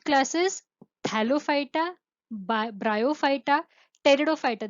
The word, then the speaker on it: Pteridophyta: So they are differentiated into Thallophyta, Bryophyta, Pteridophyta, Gymnospermy and Angiospermy. The 5 classes: Thallophyta, Bryophyta, Pteridophyta. This is pterido, it is not pterido, it is P is silent here.